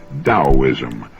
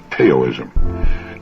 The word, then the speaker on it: Taoism: I found his discussion of the Chinese Taoism of particular interest. Now, that's spelled Taoism and often mispronounced Taoism.